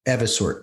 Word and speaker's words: Evisort: You've got quite the career in fintech as a board member and now the co-founder and CEO of Evasort. Is that pronounced correctly? Uh yes. Everort. Evasort just wanted to make sure uh could you